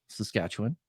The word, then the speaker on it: Saskatchewan: next to us, which is even more rural, Saskatchewan.